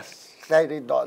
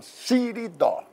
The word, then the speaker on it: Siridó: Não é Seridó, não. Siridó. A pronúncia é beleza.